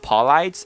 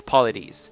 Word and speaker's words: Paulides: It's not Paulides, so I think it's Paulides.